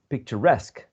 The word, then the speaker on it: picturesque: Picture, you see, picture, but picturesque.